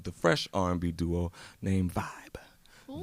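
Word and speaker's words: VīB: One half of the fresh R&B duo named Vibe. Ooh. V-I-B, that's Vibe, no E.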